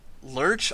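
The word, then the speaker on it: Lerche: It's by Lurch, I believe is how their studio is pronounced, but they've done Assassination Classroom, Scum's Wish, Danganronpa as well.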